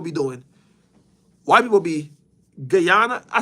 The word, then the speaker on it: Guyana: Not Ghana, Toph. Guyana. Blood could have just said it. That's what I said. No, not Gianna. Not Ghana.